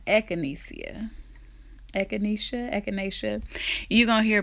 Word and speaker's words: echinacea: to pronounce that damn tea all the time eckinesia eckinesia echinesia echinacea you're gonna hear pronounce a thousand different ways look up another